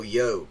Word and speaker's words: yolk: it's like a long it's just a long o yoke like um where